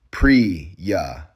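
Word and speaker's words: Priya: Pri-ya, two syllables, the stress on the first.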